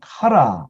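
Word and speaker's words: χαρά: 여러분 들어보신 단어도 많이 있을 텐데 첫 번째 단어는 카라, 정확한 발음은 히읗이 아니고 CH 발음 아니면 X 발음이죠. 카라라는 발음입니다.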